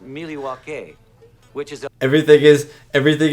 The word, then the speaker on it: Milwaukee: so fun in fact isn't milwaukee an indian name yes pete it is actually it's pronounced miliwake which is everything is